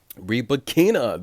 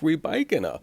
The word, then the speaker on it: Rybakina: Rybakina, that's how she wants it pronounced. I'm sorry. It looks like Rybakina.